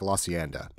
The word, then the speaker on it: La Cienega: And then, have you ever noticed that if you're from LA, you don't say it like I just said it, how it's spelled, La Cienega? For whatever reason, if you're from LA, it sounds like La Hacienda.